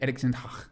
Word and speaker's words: Erik ten Hag: Erik Ten Hag.